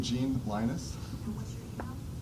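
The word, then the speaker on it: Leynes: what's your name i'm i'm gene linus uh well you would never spell it right by the sound of it but it's uh gene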